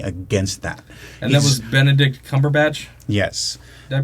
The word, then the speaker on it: Benedict Cumberbatch: And that was Benedict Cumberbatch? Yes. Did I pronounce that right?